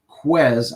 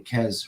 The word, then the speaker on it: Quez: Also, a guy that we talked about before padded practice was, and I'm going to say his name right, Quez. I was saying Kez for some ridiculous reason.